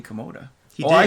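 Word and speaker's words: Kimota: He said Katoma. That sounds like a tumor.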